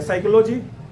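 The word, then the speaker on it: psychology: करता है, होता है ना, के वहां से साइलेंट हो गया। साइकोलॉजी, साइकोलॉजी का नाम सुने हैं ना, पी से शुरू होता है।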